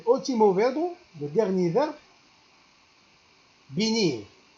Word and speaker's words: venir: El último verbo, le dernier verbe, venir. En français, V, ça se prononce en espagnol B. Venir.